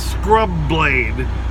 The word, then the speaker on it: Scrubblades: you end up mashing them together so it's scrub blade like it's one word and that's one of